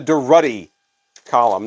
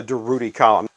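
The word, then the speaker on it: Durutti Column: sandpaper album cover from the deruddy column not the derudi column now here's one that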